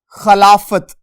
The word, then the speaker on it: خلافت: دیکھیے گا ہمارے پاس لفظ ہے خلافت، زبر اور فے کے اوپر بھی زبر، اس کو کیا پڑھیں گے ہم؟